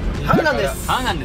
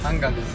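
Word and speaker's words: 한강: - Han River - We're going to Han River Hangang, hanger Hanger!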